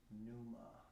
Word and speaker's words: pneuma: Okay, the word is pneuma. Okay. The word for ruh in Greek is pneuma. Grekçe ruh kelimesinin ruh kelimesi pneuma. Okay, there's actually it's like the P is silent, you know.